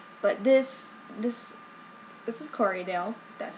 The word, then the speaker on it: Corriedale: the best camera but this this this is corydale that's how you say it um and it